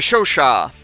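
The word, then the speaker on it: Chauchat: yeah uh the uh the show shot is how it's pronounced um uh I've also I I've heard from many Americans well like I believe is more kind of how it's supposed to be pronounced in French um people say uh the chow chow uh the the choke chat stuff like that um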